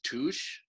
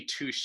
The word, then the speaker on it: touche: the same spelling um the french pronunciation is touch so it's uh yeah but in english you know we just call it touch so technically touche is a mispronunciation oh